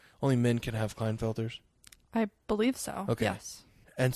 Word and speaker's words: Klinefelter: condition called clinda felter syndrome here will you pronounce that for me Klinefelter syndrome Klinefelter's syndrome for those of you don't